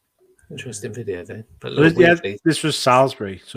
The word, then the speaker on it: Salisbury: was took from interesting video though this was salisbury so it's not actually too far away salisbury yeah is that how you pronounce it no salisbury salisbury salisbury but yeah that's not actually too